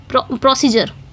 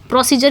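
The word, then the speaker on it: procedure: ओ सी ई प्रोसीजर डी यू आर ई अब ड्यूर है मतलब इसको जर पढ़ा जाएगा प्रोसीजर तो पी आर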